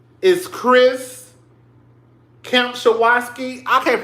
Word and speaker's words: Kempczinski: The CEO, his name is Chris Kempczinski. I can't pronounce his name. It's Kempczinski.